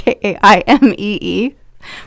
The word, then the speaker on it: Jaimee: We are on Instagram, which is at Jaimee Rose Interiors, and it is spelled crazy. So thank you, Mom, for that. It's Jaimee.